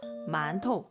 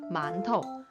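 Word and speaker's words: 馒头: 만토, 만토. 뒤에는 경성이어서 가볍게 만토, 만토 이렇게 발음을 해주세요.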